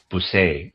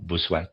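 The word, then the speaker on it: Bossuet: Ignatius of Lyola uh Busay uh his name is pronounced B O S u t sorry buset maybe.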